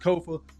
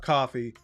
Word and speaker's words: Kofa: I am your humble host, Kofa, K-O-F-A, not coffee, not kufu, not Kofi, or any variation thereof. Kofa rhymes with sofa, easy to say, easy to spell, right there on the screen.